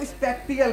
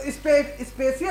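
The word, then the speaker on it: spatial: मेरे भाई होंगे वो स्पेक्टियल पढ़ेंगे। अपन बचपन से स्पेक्टियल पढ़ते हैं, हमें किसी ने बताया ही नहीं यार, क्योंकि अपन को इंग्लिश आते ही नहीं कि ये टी साइलेंट होता है। तो स्पेशियल अरेंजमेंट का मतलब होता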